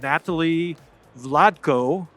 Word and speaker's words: Natali Vlatko: Cameron Gain, and I'm here today with Natali Vlatko. Great. Oh, thank you.